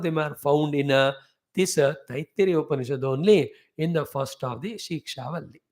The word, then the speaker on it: Taittiriya: Tittiri bird, therefore Taittiriya Upanishad. Taittiriya.